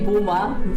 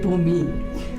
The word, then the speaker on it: Bhumi: Whatever you No, talk, it's Granny, my mother's mother used to say Bhuma, funny enough. My other grandmother said Bhumi.